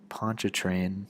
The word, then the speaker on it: Pontchartrain: New Orleans protecting from the northern Lake Lake Pontchartrain that's how you pronounce it and the southern bend of the